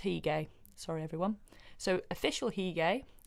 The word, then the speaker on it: Hige: Not sure how to pronounce that one. Hige. It's Hige.